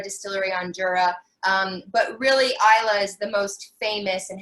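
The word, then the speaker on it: Islay: gonna get more difficult but what is the island uh within scotland that is known for that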